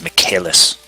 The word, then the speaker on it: Michaelis: It's basically the Latin version of Michael, so it's Michaelis.